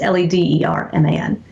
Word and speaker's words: Lederman: At MT Lederman, and it's Lederman. It sounds like David Letterman. We say it the same, but spell it differently.